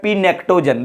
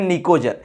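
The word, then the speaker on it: pnictogen: बहुत लड़कवे ने करा पड़ता है पी नेक्टोजन। देखो यहाँ पी से शुरू हुआ है ना, पी निक्टोजन, तो इसको पी यहाँ पर साइलेंट रहता है इसलिए बोलते हैं निकोजन, तो निकोजन के नाम से जाना जाता है।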